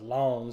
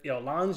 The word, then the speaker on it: Lens: Lens Sevilla, this was actually, I think it's pronounced Lons, having watched that game on the other week. This was going to be a boring game. This is a game where Lons just needs to have